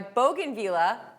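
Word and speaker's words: bougainvillea: So, Joe is asking, "My bogan villa, I get that right.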